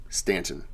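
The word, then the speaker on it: Staunton: last name is s-t-a-n-t-o-n stanton um he was born in s-t-a-u-n-t-o-n which they still pronounce it stanton so his father was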